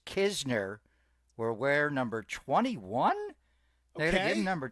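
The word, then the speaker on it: Knizner: Andrew, the N is silent. It is Kizner.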